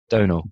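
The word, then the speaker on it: Domhnall: one more time normal oh no no sorry donald donald donald yeah i kept calling him dom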